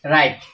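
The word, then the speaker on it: write: ইয়াটা উদাহরণ দিছে ডব্লিউ আর আই টি ই রাইট ইয়াদ ইয়াদ চাইলো ডব্লিউ আছে আর আই টি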